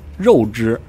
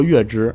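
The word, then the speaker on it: 月氏: 书上通常把它念作肉之，肉大肉之，但是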